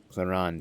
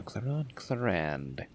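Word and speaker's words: Clorinde: Yeah, we'll go with my Clarande Chevreuse Overload team. No, Clarande. Again, that's a name that is spelled very differently to how it is pronounced.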